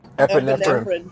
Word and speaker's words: epinephrine: Epinephrine.